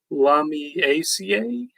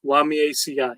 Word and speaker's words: Lamiaceae: Lamiaceae? No, Lamiaceae. It's part of the Lamiaceae herb family.